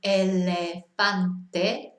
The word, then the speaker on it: elefante: And the example word we've got there is elefante, which is a good example because it's got 3 in it and they're all sound. It's always never changes. But obviously it's one of the vowels that people tend to get the vowels confused. But it's always, sin excepción, elefante.